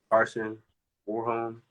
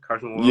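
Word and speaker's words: Karsten Warholm: Carson Warholm, is that how you pronounce his name? Carson Warholm.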